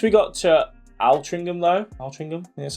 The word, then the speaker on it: Altrincham: Once we got to Altrincham though, Altrincham, that's how you say it, there's a hill there at the half marathon mark.